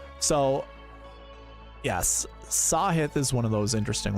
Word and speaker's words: Sahith: last name so yes sahith is one of those interesting ones I always say siah that's the fast way to say his name but I'm pretty sure sure it's sahith and I think it's